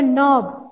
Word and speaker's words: knob: So knob, knife, knot, nil, knit, knee. So few words are there. Here K is silent. This K letter is silent. Silent means we don't pronounce that.